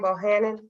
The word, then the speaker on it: Bohannon: is that how you pronounce your last name, Bohannon? Yes, that's correct.